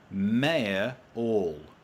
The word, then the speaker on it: mayoral: So Mark Randall's having a little chat with Chris, but also says Mayor All. That's how you say it. Mayoral. Mayoral. Mayoral. That's how I'd say mayoral. I think I'm doing an extra syllable.